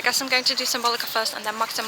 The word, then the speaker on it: Symbolica: We are heading to Symbolica now, because Symbolica, I keep calling it Symbolica, which I get because yes, that's the English name, but I usually refer to it as Symbolica, which is like Dutch pronunciation, I guess.